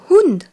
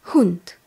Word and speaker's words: Hund: a T Z e di Cats le mot Hund le chien est masculin der Hund h u n d der Hunt même si le chien est une chienne révisons